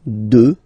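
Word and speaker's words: deux: Final X not pronounced, okay? 2.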